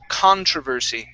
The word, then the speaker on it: controversy: Let's go to the word controversy. Okay, so the stress is at the very beginning of the word.